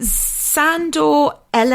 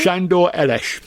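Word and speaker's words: Sándor Elès: Um, so we've got um Sandor Ell, is that how we say his name? Shandoresh. Shandoresh as Hans.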